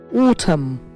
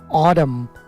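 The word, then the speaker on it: autumn: অটাম, British হচ্ছে অটাম, ওতে জোর হবে অটাম, আমেরিকান অডাম, অডাম, টিকে ডা সাউন্ড করে ওরা, অডাম। হ্যাঁ, এটা পিকেলের এক জিনিস, অডাম, ব্রিটিশ অটাম।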